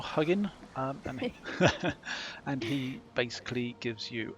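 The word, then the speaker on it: Huginn: little crow buddy here hugin i think it's pronounced huguen or huggin and he basically gives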